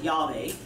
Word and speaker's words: Yahweh: in English yhw H pronounced in the Hebrew as Yahweh or in English has